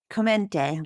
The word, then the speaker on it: Chiomenti: Chiomenti, love it. How did I do? Probably not well. Very good. Excellent pronunciation.